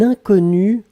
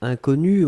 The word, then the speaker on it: inconnu: Alors, faites attention avec le premier mot, puisqu'effectivement, inconnu, on peut le prononcer de la même façon au masculin et au féminin.